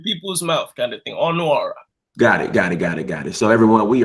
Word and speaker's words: Ọnuọra: I said the A is silent, I guess. No. Ọnuọra. So it's Ọnuọra. Ọnuọra. Ọnuọra. Yeah. So it's the U.